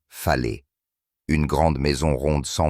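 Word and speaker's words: fale: l'habitat traditionnel ici est le FAL prononcé fet une grande maison ronde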